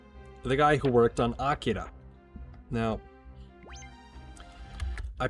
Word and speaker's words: Akira: Specifically Otome, the guy who worked on Akira. Now, I pronounce it as Akira because it's Akira, right?